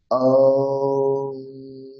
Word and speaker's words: ওম: অকার যখন উচ্চারণ করবেন ওমের মধ্যে যে অকার আছে সেটা কন্ঠ থেকে উচ্চারণ হবে প্রথমে শুরু হবে কন্ঠ